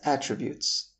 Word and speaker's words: attribute: One of Oprah's best attributes is her ability to communicate effectively. Just like in the last example, if you put the stress on the mid syllable, making it attribute, you would be saying